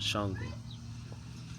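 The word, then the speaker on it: Xhango: don't know who I am, I go by Shango. You know, it's spelled x h a n g o. For those who don't know how to pronounce it, it's pronounced Shango. You know, but I go by Shango the god.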